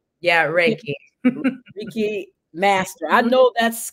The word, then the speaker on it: Reiki: Reiki? Yeah, Reiki.